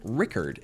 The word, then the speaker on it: Rickard: Richard is pronounced like Rickard in Sweden.